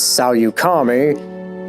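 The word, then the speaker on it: Saleucami: And the next mission is one on Salukami, or how it was pronounced in the game as Salyukami, because this was before they actually, had a on-screen name for it.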